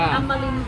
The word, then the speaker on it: อัมรินทร์: หลัง อ ระยอง ระยอง อ่าน ว่า อำมริน ฟาร์ม กาแฟ สด อร่อย